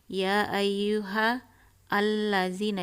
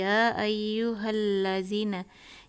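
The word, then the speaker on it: يَا أَيُّهَا الَّذِينَ: Jadi tidak mengatakan ya ayyuha allazina, ya ayyuhal lazina, tapi ya ayyuhal lazina.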